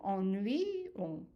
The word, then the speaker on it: ennuyons: So ennuyons. And this Y here is pronounced as a Y.